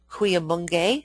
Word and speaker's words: Cuyamungue: Goodman Institute, Cuyamungue, that's pronounced, where workshops are held pretty much through